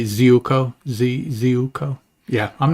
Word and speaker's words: Ziuko: Do you know Thomas Ziuko? That's how I've always said it. Okay, that sounds fine, because it can't be Zuko, because who is that?